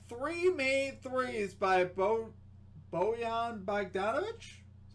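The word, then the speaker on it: Bojan Bogdanović: two i got three made threes by bo boyan bagdanovic is how you pronounce his name uh plus 148 odds there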